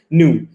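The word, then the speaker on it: ν: kimia kita sering menggunakan lambangnya adalah seperti v tapi ini bukan velocity ya makanya dibacanya adalah new jadi new saya bentuknya lebihnya ada yang buat seperti ini di buku juga ada jadi bentuk seperti ini juga gak Jadi dibacanya nu nu iya new adalah ceper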